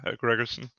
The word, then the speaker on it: Grgrsn: How do I pronounce Yeah, your name? perfect. That's how most Grgrsn? English-speaking people do. Yeah, Grgrsn.